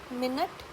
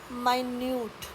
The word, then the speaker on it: minute: तो इसमें आपने प्रोनाउंसिएशन देखी, फर्स्ट है एड्रेस और सेकंड है एड्रेस। नेक्स्ट है MINUTE, मिनट और माइन्यूट।